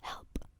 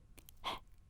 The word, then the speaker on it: へ: You pronounce it as in like help. He. Help. He.